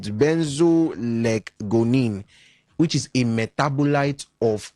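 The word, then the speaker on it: benzoylecgonine: accredited um organization that okay this is a very very long word OVA you pronounce it benzo leonine which is a metabolite of cocaine.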